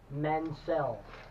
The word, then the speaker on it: Mansell: It's going to be Lord Robert Mansell, and that's how you have to say his name. He said Mansell.